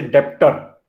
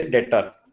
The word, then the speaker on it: debtor: We don't say डेप्टर, we don't pronounce it डेप्टर, वी से डेटर, right? Okay sir. B silent रहता है उसमें.